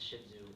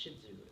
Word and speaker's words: Shih Tzu: one for personal experience so what is a shih tzu well I should do is a toy sized